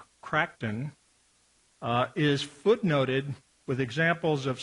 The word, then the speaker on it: Crichton: The novel, State of Fear by Michael, I believe it's pronounced Crichton, is footnoted with examples